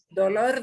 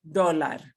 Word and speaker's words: dólar: Dolor de cabeza is a headache, a pain in your head. Dolor de estómago is a stomach ache. So not dolor, which is a physical pain, but dólar.